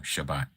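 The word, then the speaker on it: שבת: That is the pronunciation in Hebrew. Shabbat.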